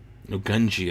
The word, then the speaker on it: Gungi: of my jacket actually there's a gunge on the back of my jacket no gunji I've been saying it wrong this whole time I